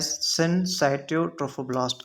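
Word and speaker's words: syncytiotrophoblast: ट्रोफोब्लास्ट differentiate हो जाता है साइटोट्रोफोब्लास्ट एंड सनसाइटोट्रोफोब्लास्ट। इसका प्रोनाउंसिएशन सन ससिसट्रोफोब्लास्ट भी होता है। But battle pronunciation is that it is called as ससाट्रोफोब्लास्ट।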